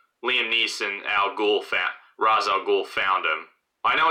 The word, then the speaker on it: Ra's al Ghul: Neeson al ghul fat Ra's al Ghul found him I know it's pronounced duration most other media but but it is pronounced Roz in the movie I think Ron sounds